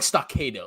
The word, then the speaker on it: Stockado: I like Stockado, like a tornado. You It like rhymes.